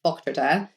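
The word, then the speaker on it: Vogtritter: But yes, my last name is my maiden last name is Vogue Tritter, very German, pronounced Volktritter.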